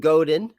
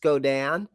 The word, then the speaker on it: Godin: I used to call him Godin, but I believe it's pronounced Godan.